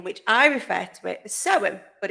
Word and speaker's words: Samhain: expert Halloween we've got but it's spelled Sam Hayne but we say so in that's how I've always